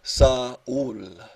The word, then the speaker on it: Saul: Saul, pronounced Saul, blue eyes of ice fire, canyon-bronzed crevices folded on a sheared face, coffee mountain beard, bright notes, interspeckled philosopher raconteur.